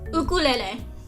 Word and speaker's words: ukulele: He would make people say, it's ukulele. I think it's a cute and unique pronunciation, very cool.